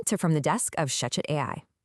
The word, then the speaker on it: ShechetAI: Welcome to From the Desk of ShechetAI. That's spelled ShechetAI. And yes, I know what you're thinking, it's pronounced Shechet.